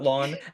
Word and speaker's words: ln: You can call it lawn.